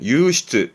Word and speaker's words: 湧出: 대표적인 단어는 용출, 발음은 유시트, 유시트에서 용출, 말 그대로 샘솟는, 솟아나는 건데요.